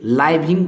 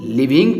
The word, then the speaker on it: living: इसको आप लोग क्या पढ़ते होंगे? लाइविंग पढ़ते होंगे, लेकिन नहीं, इसको हम लोग लिविंग पढ़ेंगे। LIVING, लिविंग। लिविंग मतलब जीवन।